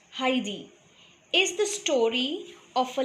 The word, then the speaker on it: Heidi: the lesson now Heidi it is to be pronounced Heidi is the story of a little girl named